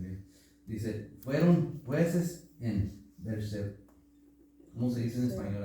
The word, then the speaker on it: Berseba: Abías, casi se escucha como mi apellido, que nunca lo pronuncian bien. Dice, fueron jueces en Berseba.